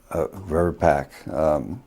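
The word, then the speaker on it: VRBPAC: it verbat verpac verbac how does it normally pronounce verb pack vaccines and related biological advisory committee and that's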